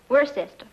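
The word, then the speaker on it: Worcester: something else too doc but it's spelled w r c e s t e r wor sest oh yes I see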